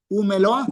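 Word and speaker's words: ומלואה: Entonces, noten que esto se pronuncia como una sola palabra. Umeloa. Usted no lee umeloa. Se formó una sola palabra porque todo esto es un solo concepto en el hebreo.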